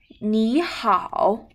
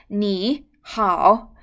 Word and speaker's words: 你好: When two third tone syllable meet together, the first third tone should be changed into second tone. 你好, short, okay? If it is third tone, it will be 你好, too long, okay?